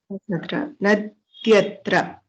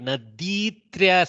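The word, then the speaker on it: नद्यत्र: Nadi plus Atra. Nadyatra. Don't make it Naditra, something like that. Ikara, even if it is long, it becomes Nadyatra.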